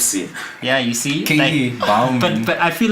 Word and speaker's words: Bouman: Katie Bowman, and then I got MIT. Oh wait, Katie Bowman. How do I spell that? Bouman. B-O-U. Man. That's the weird spelling of Bowman, man.